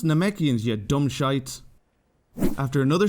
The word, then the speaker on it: Namekians: Nemeks. And what did that lad say? That's not how you pronounce that word. It's pronounced Namekians, you dumb shites.